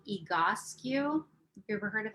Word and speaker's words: Egoscue: So EGO, EGO, and then SCUE, and it's pronounced EGOSCU.